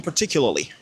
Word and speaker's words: particularly: It is particularly. C'est pas une faute, hein? C'est bon. C'est bon, c'est correct, c'est bien prononcé. Alors, lorsque les Américains sont en train de parler, contextuellement, vous allez entendre quelque chose comme particularly. Donc, on aura juste un p.